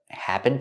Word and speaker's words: happened: The D in happened is a stop D when you link the words.